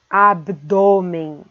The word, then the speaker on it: abdômen: Depois vem abdômen. Abdômen com esse O fechado.